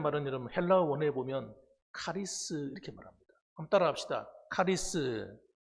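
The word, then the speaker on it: χάρις: 은혜라는 말은 여러분 헬라어 원어에 보면 카리스 이렇게 말합니다. 한번 따라합시다. 카리스. 예, 카리스라고 해요. 잘하시네요.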